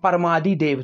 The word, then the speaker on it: परमादिदेव: परमादिदेव दोस्तों, इसमें परम आदिदेव लिखा हुआ है, यह टाइपिंग एरर है, आपको इसको समझना है। परमादिदेव, इसका यह होगा सही प्रोनाउंस, तो इसको आप याद रख लीजिए, परमादिदेव।